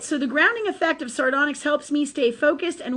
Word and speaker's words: sardonyx: Sardonyx, a variety of chalcedony, thank you, Jennifer is approving of my pronunciation.